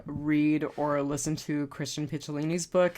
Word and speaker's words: Picciolini: I would also encourage people to read or listen to Christian Picciolini's book. It's Piccolini. I had been saying it wrong for quite some time, but it's Picciolini.